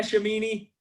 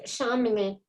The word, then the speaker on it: Chamonix: Hello, and you pronounce my name almost right. It's Chamonix.